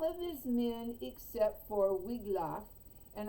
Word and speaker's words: Wiglaf: his men except for wiglaf and i suppose that would be pronounced vigloff in uh in sweden all the wig lock